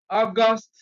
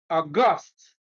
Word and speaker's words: August: it is an adjective for example August as a noun August as an adjective so you talk about